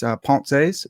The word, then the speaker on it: Pensées: If this is your first time listening or watching a Parker's Pensées episode, yes, I know it's Pensées, but I'm an American swine, and I pronounce it like an American swine.